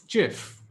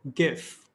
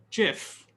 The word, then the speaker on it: GIF: not athlete f lead let's settle this internet debate forever it's jif not gif jiff and finally niche it's not